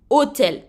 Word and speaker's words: hôtel: h d'accord et là le H de hôtel est une lettre muette d'accord je ne prononce pas le H vous entendez bien quand je prononce je dis bien o hôtel donc j'ai un son